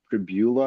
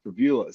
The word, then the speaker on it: Pribula: I'm probably going to butcher his name. It's Pribula, I believe is how you say it.